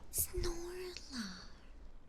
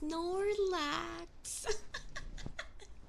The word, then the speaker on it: Snorlax: Snorla. Wait, what do you call that? Snorlar? Is that how you say it? Snore. See, I don't even know how to say their names. Snorlax.